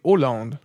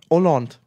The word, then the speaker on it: Holland: bitte Hand Holland ne das H ist stumm Holland ah okay Holland ne Oland Oland ja ah okay Hand